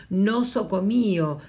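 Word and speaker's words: νοσοκομείο: en griego nosocomio claro en español decimos nosocomio y podemos ver el acento en griego es nosocomio demás está decir que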